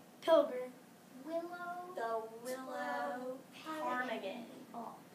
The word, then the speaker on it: ptarmigan: The willow ptarmigan. So the P is silent.